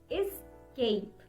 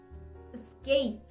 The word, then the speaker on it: escape: Escape. No, that's not the correct way to say this word. The correct pronunciation for this is escape. Escape. It's not escape. Escape. Cape. Focus on the sound cape. Escape. Escape. Escape. Escape. That's correct.